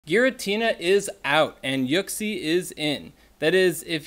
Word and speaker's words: Uxie: with everybody here and that is that it's pronounced yuxi nat oak see here we got the official name pronunciation guide